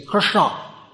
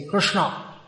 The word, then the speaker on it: Krishna: is nice to do you can turn twist your tongue when you say krishna say krishna put your tongue at the back and say krishna sometimes it's asked well